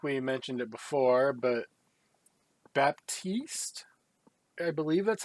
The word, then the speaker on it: Baptiste: We've got some Overwatch news, and I think we mentioned it before, but Baptiste, I believe that's how you say his name, Yes, Baptiste is a new hero coming to Overwatch.